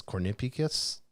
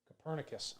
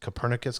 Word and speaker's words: Copernicus: the european union's how do you say this cornipekis copernicus copernicus climate change service yeah copernicus nicholas copernicus yes